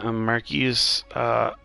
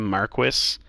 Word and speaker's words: Marquis: terms was soon to follow so I mean marquise marquise Holley mound or actually um the game pronounces this wrong they call him Marquess and I took French so I know that